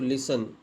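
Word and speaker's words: listen: होगा सुनना सुनना तो लिसन तो लिसन एल आई एस एन एल आई एस टी टी एन ई डी है ना ओ लिसन लिसन आई इसमें टी साइलेंट है।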